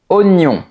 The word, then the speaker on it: oignon: Ici, on dit oignon. Par Par je mets un oignon dans la soupe. Donc, ! Même si tu vois ces deux lettres, la prononciation est oignon.